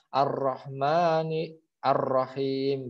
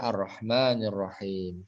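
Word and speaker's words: الرحمن الرحيم: Ar-Rahman, kenapa bacanya enggak Ar-Rahmani Ar-Rahim gitu ya. Tadi definisinya masuk ke situ hamzah itu ya. Jadi bacanya Ar-Rahmanir Rahim.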